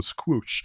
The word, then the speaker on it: Squoosh: google called squoosh so think of it as a squash but with double or squoosh and what squoosh would